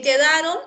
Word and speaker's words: quedaron: En quedaron, la U no se pronuncia.